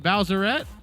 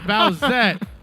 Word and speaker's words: Bowsette: waluigi i believe it's is it bowserette that's that bowsette sorry okay so it's bowsette i'm sorry my you know you all knew i wasn't gonna say it properly um bowsette rocking the